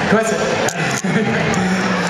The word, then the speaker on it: Cohasset: Cohasset, is that pronounced Cohasset? Cohasset.